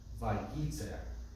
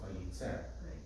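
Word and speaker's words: וייצר: in many newer Chumashim, we double the Talisha Ketana when the accent is not on the last syllable to show you which syllable to accent. Vayitzer. Vayitzer, right? Otherwise you might go Vayitzer.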